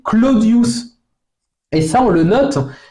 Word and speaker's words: Claudius: Par exemple, le aou va devenir o de petit à petit. Par exemple, Claudius, le prénom, va de plus en plus se prononcer Claudius.